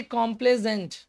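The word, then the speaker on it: complaisant: ठीक है, अब देखिए कॉम्प्लेजेंट, स्पेलिंग में फर्क हो गया, कॉम्प्ला लिखा हुआ है लेकिन ISANT, कॉम्प्लेजेंट।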